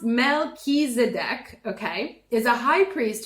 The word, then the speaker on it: Melchizedek: Pronounced Melchizedek, okay, is a high priest who's mentioned in the Bible's book of Genesis and many other sources too.